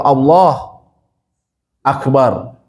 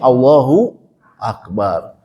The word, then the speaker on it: Allahu Akbar: Tapi kalau Allah Akbar, nah ini masjid kami ada yang seperti itu sebagian ulama mengatakan tidak boleh. Karena beda Allah. Jadi suatu semacam dua kata yang berbeda. Padahal ini harusnya Allahu Akbar. Karena hu di sini ada fungsinya. Kalau dalam bahasa Arab disebutnya dia mubtada, dia yang dijelaskan itu apa? Allah, gitu kan. Hu di sini ada fungsinya, gitu.